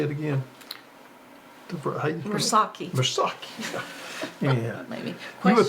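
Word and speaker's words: Murasaki: Mursaki is a potato that's a newer variety developed in Louisiana.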